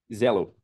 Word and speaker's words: Xello: a bmob no Brasil a Shell é shello que se fala Zello Zello a RBC a